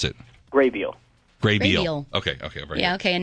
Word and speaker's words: Grabeel: So, by the way, how do you pronounce it? Graybeal.